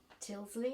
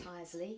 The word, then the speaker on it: Tyseley: Mike, you got a boat, in fact several boats over the years, and finally Tilsley, is that how you pronounce it? Tyseley. Tyseley, yes.